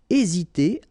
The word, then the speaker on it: hésiter: Remember, H is not pronounced, so first letter here is E. Hésiter. Hésiter à.